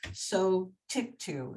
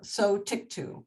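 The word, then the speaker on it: Sotyktu: it's s-o-t-y-k-t-u it's co so tick to I love the name it means tick to but it's spelled t u at the end and it starts with so this was just approved like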